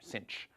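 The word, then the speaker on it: sinh: pronounce this sinc so in American English as if there were an extra C in there Cinch so okay so these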